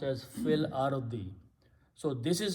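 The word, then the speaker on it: فِي الأَرْضِ: So now this will be pronounced as fil ardi.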